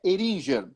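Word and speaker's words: Heringer: Depois ele fez uma carreira muito grande, ficou muito tempo na Fertilizantes Eringer. É essa a pronúncia correta, né? Eringer.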